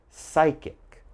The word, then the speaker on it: psychic: So as you notice, PS is very common, but don't say the P, all right?